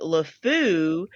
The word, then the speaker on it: LeFou: if y'all knew but lefou is pronounced like the french word for or the french phrase the idiot so i think he's